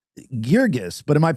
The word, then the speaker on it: Girgis: The uh the white paper way is Gurgus. The Egyptian way is Gerggas.